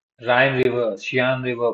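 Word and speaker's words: Rhine: ठीक है, या फिर सीन रिवर बोल सकते हैं, प्रोनाउंसिएट राइन सीन।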